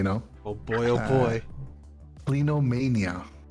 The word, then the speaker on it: clinomania: oh boy oh boy plinomania i hope i'm pronouncing that long time correct clinomania c-l-i-n-o-m-a-n-i-a clinomania it's it's used to